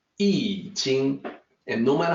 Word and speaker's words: I Ching: out the YouTube presentation was say I Ching it's actually eating and no matter how